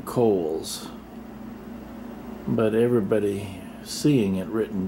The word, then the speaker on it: Cowles: And that hill over there is spelled Cowles, but the man after whom it is named pronounced his name Cowles, but everybody seeing it written down says Cowles, Cowles Mountain.